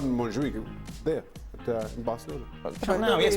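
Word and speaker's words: Montjuïc: the correct pronunciation? Montjuic.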